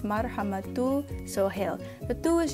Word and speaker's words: Marhama: I found, is that people tend to emphasize a syllable in my name. So they go Marhama, they go Marhama or Marhama, so it's usually this middle one.